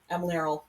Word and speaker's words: Emlearal: I've been working on this for 3 years, and I'm very certain I'm pronouncing it wrong. How do you say it? Emlearal.